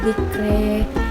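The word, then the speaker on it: ذِكْرَىٰ: Perubahan kedua pada akhir ayatnya yaitu imalah pada bacaan dzikra sehingga cara bacanya menjadi fadzakir in nafa'atiz dzikri.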